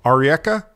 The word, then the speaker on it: Arieca: like and and correct me if I'm wrong Ari eka oh yeah okay I want to make sure I was pronouncing that properly and and it's it's product